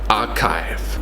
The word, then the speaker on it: archive: Korean regime and archive archive again not our tithe archive the library has a